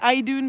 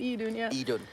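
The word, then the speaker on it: Iðunn: say for anyone curious It's spelled e dude yeah i d u n n not I Dune but e Dunya yep okay so Eden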